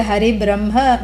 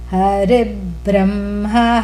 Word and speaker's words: Hari Brahma: followed by a Brahma, which is B and R together, which is a conjunct consonant. So therefore there is a dvitvam, a doubling rule. So it's easy to say Hari Brahma, but that's not how to say it. Hari Brahma Harastrayah. Try that.